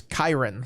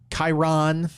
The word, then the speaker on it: Kyron: pronounce his name it's Kiron like Byron he's like it's not Chiron it's not like the emphasis on the second syllable it's not chirone there's no e or